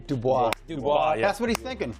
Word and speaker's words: Dubois: So I think he's seen Dubai. I can't say his name. Dubois.